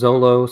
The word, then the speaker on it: Zoro: Like sometimes it's Zolo, sometimes it's Zoro.